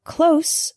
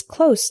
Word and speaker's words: close: The word close with an S sound means near, not far. For example, my house is close to the bus station. The word close with a Z sound is a verb.